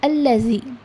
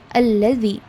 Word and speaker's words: الذي: Okay, it is allazi. The front part of your tongue comes out a little bit between the two jaws, that is your upper jaw and lower jaw, and you need to pronounce it as alladhi.